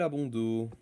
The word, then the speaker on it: Abondo: et prénom euh Abondo. Comment vous écrivez exactement ? M I C K A E L A L et abondo. Bah Abondo comme ça se prononce sans le S à la fin.